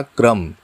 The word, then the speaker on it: क्रम: अब देखिए, यहाँ पर क व्यंजन के नीचे एक डंडी लगाकर आधा र का प्रयोग किया गया है। इसका उच्चारण हो जाएगा क्रम।